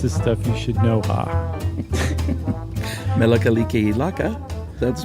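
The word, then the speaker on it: Mele Kalikimaka: Melakaliki Laka, that's pronounced?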